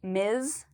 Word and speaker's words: Ms.: It actually has a Z sound at the end, so you'll hear me say Ms.